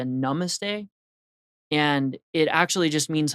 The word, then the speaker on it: namaste: they say this word namaste a lot of times they're mispronouncing it they're saying not you're saying namaste from what I understand it's a little bit closer to namaste and it actually just